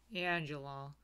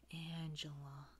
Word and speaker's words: Angela: Angie, you gotta soften my voice to get the pronunciation right, get the feeling right, you know? It's not just Angela. It's Angela. Anyways, I am majoring in